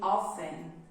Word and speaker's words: often: to notice is that we don't pronounce letter t we only say often often listen carefully okay